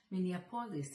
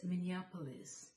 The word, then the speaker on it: Minneapolis: Published in Minneapolis. I had never heard that name before. That evening, I asked my sister, "Where is Minneapolis?" She corrected me. She said, "It's not Minneapolis, it's Minneapolis."